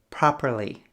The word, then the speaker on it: properly: With B, you need to make a sound. With P, you only push air out. B, P. So you can see the difference when you understand the pronunciation of B and P. Probably, properly.